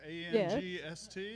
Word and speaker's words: angst: with the word angst a-n-g-s-t yeah that's how it's pronounced in german we call it angst